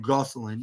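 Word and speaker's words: Gosselin: defeating uh Brett Ryan uh go uh uh go Goselin Goselin yeah gos Brett Ryan Goselin that's what it's how it's pronounced but but what are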